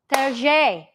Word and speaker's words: Terje: Terje. Is that how you pronounce it? Well, he's Terje. He's Terry. Is it Terry?